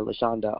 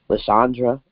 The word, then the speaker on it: Leanda: pronounce it correctly folks butcher leanda all the time they be adding RS and stuff Leandra like that's not my name apologies if I butcher